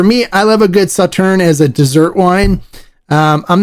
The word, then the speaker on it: Sauternes: Now, Sauterne is spelled Sauternes. So it looks like Sauternes, but it's Sauterne. It's pronounced Sauterne. It's French.